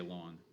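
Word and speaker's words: ln: just say one and that's the way we pronounce it we say long as in like lawn okay so long five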